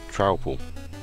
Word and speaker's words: Truple: Pronounced like mouthful. So, Trouple.